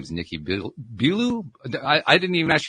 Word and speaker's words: Billou: his name is Nikki belu I I didn't even ask your name pronunciation before we got going is it belu or Belo I'm I'm guessing one of those two Belo belue okay all right so